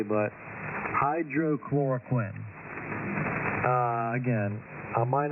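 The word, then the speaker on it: hydroxychloroquine: me if I'm not pronouncing this correctly but hydroch chloroquin uh again I might not be be pronouncing that correctly but hydroch chloroquin uh anyway you may have heard it before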